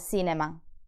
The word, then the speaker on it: cinema: So in the words cena and cinema, the C is soft because it's followed by the vowels E and I.